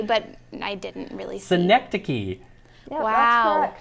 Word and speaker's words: synecdoche: Synecdoche. Yeah, That's what- correct. Is that how you pronounce it?